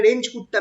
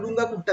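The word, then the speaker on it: Runge-Kutta: Modified Euler method, আচ্ছা এটাকে বলা হয়, তোমরা পড়বে রেঞ্জ কুট্টা মেথড। অ্যাকচুয়ালি আমি প্রোনাউন্সিয়েশনটা দেখেছিলাম রুঙ্গা কুট্টা মেথড বলে।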